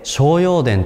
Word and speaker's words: 青葉殿: スデの納骨道青葉電と書いて商用電と読むえ濃厚道の